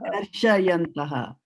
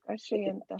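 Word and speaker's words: karṣayantaḥ: Shayanta and Shyanta are two different words, right? You have to use your eyes and put your eyes on what Prabhupada has written here. If he wanted you to pronounce as Shya, then he would not have put the A over here.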